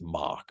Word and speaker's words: Mauch: So is it Cody Mauch? Is it Cody Mauch? I think it's Mauch. I thought it was Mauch as well. I wasn't sure if I had heard any other pronunciation. So until I know for right now, it'll be Mauch. Well, let's talk about Mr.